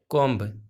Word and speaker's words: comb: तो जब भी M के आगे B आता है तो B को हम प्रोनाउंस नहीं करते हैं, B साइलेंट रहता है, ये पढ़ा जाता है कम।